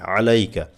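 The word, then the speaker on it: عليك: আলাইকা এই যে আলাইকা এখানে আপনারা যখন বলেন আসসালামু আলাইকা এই আইনটা আমাদের বেশিরভাগ হয় না আলাইকা গলা থেকে আলাইকা আসসালামু আলাইকা থেমে যাবে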